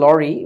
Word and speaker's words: Lowry: সো এটার উচ্চারণটা আসলে লরি, মানে এই আমরা বাঙালিরা বলি লাউরি, LOWRY। সো লাউরি শুনে মনে হয় যে লাউয়ের তরকারি, সংক্ষেপে লাউরি আর কি। অ্যাকচুয়ালি উচ্চারণটা হচ্ছে লরি।